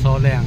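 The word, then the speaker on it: Sawleng: Panahi, kui padiuhi soleng, S A W L E N G. Kepronunciation di lokal itu spelling kan sih soleng.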